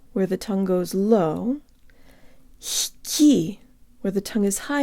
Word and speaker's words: лёгкий: This is one of the few words where g is pronounced ha, with the tongue as high as possible as it rises to pronounce the next syllable. Not h, but h. Let's pretend that we have